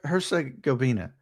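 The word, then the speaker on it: Herzegovina: I can't even pronounce Hersa Goina.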